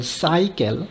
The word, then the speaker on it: cycle: as s for example cycle the first c is pronounced as sa and the second c is pronounced as ka when g is pronounced